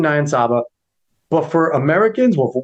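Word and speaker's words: Niyonsaba: meet record from francine nyasaba nayan saba sorry i mispronounced your name francine nyan saba but for americans well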